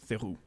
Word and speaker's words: Theroux: It's not Theroux. It's Theroux. So okay, so that's the third example.